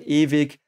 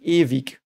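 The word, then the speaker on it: ewig: very cool word actually evik uh and the the W is by the way in German it's pronounced V so a bit like a V but bit less um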